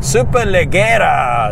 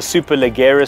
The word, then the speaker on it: Superleggera: That's not how you say it. Superleggera. That's better.